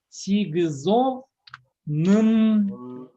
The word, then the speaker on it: сигзонынджи: Сигзо нынджи. Сигзонынджи. Ну, произносится сигзонынджи. Пишется сигзонынджи. Сигзонынджи произносится без о.